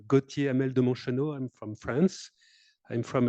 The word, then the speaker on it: Gautier Hamel de Monchenault: So my name is pronounced Gautier Hamel de Monchenault.